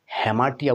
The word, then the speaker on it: Hamartia: অবশ্যই মাথায় রাখতে হবে আজকের টপিকটি কি বন্ধুরা হ্যামার্শিয়া হ্যামাশিয়া বা অনেকে এটাকে হ্যামাটিয়া উচ্চারণ করে থাকেন বন্ধুরা হ্যামার্শিয়া শব্দটি গ্রিক শব্দ এই